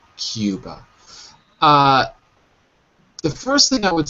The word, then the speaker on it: Cuba: Cuba. Exactly. Okay. So that's the first thing. Cuba. All the U's in English are not U, but EU. So it's Cuba.